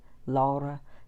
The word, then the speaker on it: Laura: I was saying her name right, Laura. That's how they say it because she's from Poland. European, they say it differently.